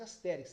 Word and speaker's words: Asterix: Eu eu falo Asterix, mas parece asterix, mas a pronúncia parece em Portugal parece ser astérix.